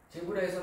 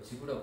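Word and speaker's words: Zebra: 그러니까 그 제브라에서 만드는 시그니처 이 11개 줄무늬니까 그 11개 줄무늬는 제브라 퍼터, 지브라 퍼터라고 하는데요.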